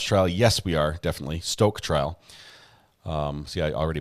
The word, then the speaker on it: Stauch: else oh I see Amber pronounced stoke stoke um I would pronounce it stooch this is how I I was pronouncing stouch or something but Stoke we're gonna have to spell it Stoke in my head um see who I